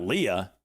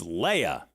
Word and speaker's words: Leia: It's not Leah, it's Leia.